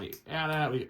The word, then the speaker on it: AT-AT: So we got down AT-AT, or AT-AT, depending on how you say it.